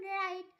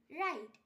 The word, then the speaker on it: write: ডাব্লিউ এর পর এইচ অথবা আর থাকলে ডাব্লিউ এর উচ্চারণ হয় না, যেমন রাইট, WRITE রাইট। এখানে আর এর আগে ডাব্লিউ আছে তাই ডাব্লিউ এর উচ্চারণ হয়নি।